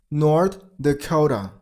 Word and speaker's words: North Dakota: North Dakota. North Dakota. While you pronounce the second word, you got to stress on the second syllable.